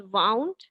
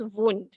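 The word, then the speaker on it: wound: But this one is pronounced as वाउंड and this is वुंड.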